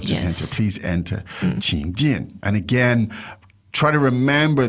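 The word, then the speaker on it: 请进: 请进, 请进. Now, third tone and fourth tone.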